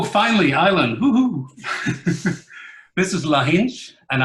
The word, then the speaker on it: Lahinch: This is Lahinch, and I think I just butchered the name. I have no idea how you say that. What? Perfect. Okay, so it's Lahinch.